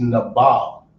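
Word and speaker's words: נבל: But the word in Hebrew is nabal, right?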